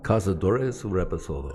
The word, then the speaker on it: Cazadores Reposado: Cazadores Reposado.